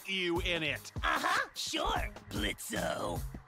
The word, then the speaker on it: Blitzo: Uh-huh, sure, Blitzo. The O is silent now, bitch.